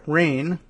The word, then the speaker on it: Rein: The story reported by Jenna Portnoy and Lisa Rain, and I'm hoping Rain is how she pronounces R-E-I-N, but maybe not.